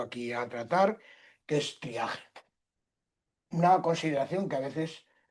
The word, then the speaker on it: triaje: Todos los galicismos que se han incorporado a nuestra lengua han terminado adaptando su grafía y la pronunciación del sufijo francés a la de español.